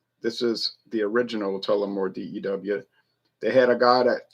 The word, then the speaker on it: D.E.W.: It's spelled out phonetically dew, like the dew on the grass, but it's really Daniel Edmund Williams, but we don't want to keep saying that.